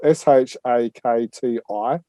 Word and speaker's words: Shakti: that but what we understand is uh shark shark t so that's spelled s-h-a-k-t-i comics um has announced it my wife's got